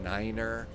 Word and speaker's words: niner: That is a specific pronunciation that you are supposed to use on the radio. Like you would say, you know, for the number nine, you would say niner because nine also means no in German.